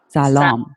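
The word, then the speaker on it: سلام: all right all right is it Shalom or Salam alone salaam yes yeah Salam okay so you gotta be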